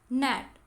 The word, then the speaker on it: gnat: जैसे gnat, GNAT is pronounced as gnat. यहाँ G silent है, तो और words हमें बनाने हैं जिसमें G silent हो.